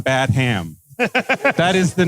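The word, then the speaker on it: Badham: Dracula one time why why are you mispronouncing his name his name is John badam that is the name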